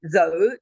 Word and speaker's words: though: You say though, T-H-O-U-G-H, and the last G-H is not pronounced at all.